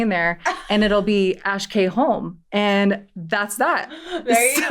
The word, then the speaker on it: Ash K Holm: I think so many people say Ash Holm, but hey, if you want to come correct, it's Ash K Holm.